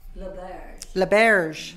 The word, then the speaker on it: L'Auberge: so we wanted to blend so it's called Laberge in Brackets in on the Prairie right right